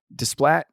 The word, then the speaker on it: Desplat: Now, Alexander Desplat, that's the proper way to pronounce his last name. Desplat won a lot of praise, uh, a lot of nominations, some awards for his score.